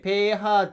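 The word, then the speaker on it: pH: ペーハー値ですねばペーハーと読むんですがペーハー値が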